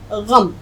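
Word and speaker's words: ग़म: तो gain meme ज़बर गम, उच्चारण सीखिए, गम, गम नहीं होता है।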